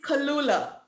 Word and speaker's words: Kalula: If I didn't, pronounce it for me. It's Kalula. Kalula. Kalula.